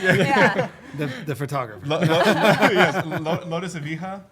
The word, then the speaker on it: Evija: Yes, Lotus Evija, right? Is that how you Oh pronounce yeah, it?